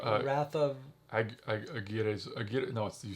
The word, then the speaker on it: Aguirre: I know you've seen, called The Wrath of Aguilera. Wrath of Aguirre.